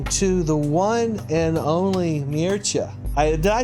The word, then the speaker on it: Mircea: we are talking to the one and only mircha did I say it right I always screw